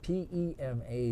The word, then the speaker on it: Pema: It's P-E-M-A, but she pronounces it Pema.